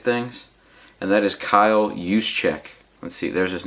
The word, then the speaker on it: Juszczyk: It's just, this is one of those Senior Bowl ticket things, and that is Kyle Juszczyk. Let's see, there's his name right there. It's pronounced Juszczyk.